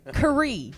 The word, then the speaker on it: Carree: the very spiritual Isaac K yes right I said it right like they had it spelled wrong on the memo that's so good I've been calling you Carrie all week it's K how you doing I'm well